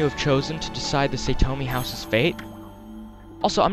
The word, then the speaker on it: Satomi: It sounds like Satomi to me, but I know that A's in the Japanese language are always pronounced as ah, so it could be Satomi. Which actually sounds much better, Satomi.